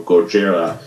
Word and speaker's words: Gojira: But however, the original Godzilla movie, or Gojira as it's pronounced, did basically have a strong human story arc and then basically had Godzilla and was just a good film altogether.